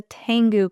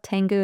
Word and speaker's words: Tengu: Yeah, it's called the Tengu Club. Tengu is spelled Tengu.